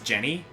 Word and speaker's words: Genny: Okay, she's not listed here, but if she does count, Genny. Oh, Genny! I really like Genny. Genny's great! Funny enough, I think her actual pronunciation is Jenny, but I like Genny more, honestly.